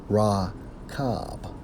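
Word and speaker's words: רֶכֶב: When we focus on chariot, according to the Hebrew, it's Strong's H 7393, pronounced as Rakab.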